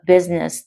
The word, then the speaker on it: business: Or Master of Business Administration. Or Master of Business Administration. Master, dễ rồi. Business là một cái từ hay phát âm sai, mọi người đọc là business, người ta đọc là business.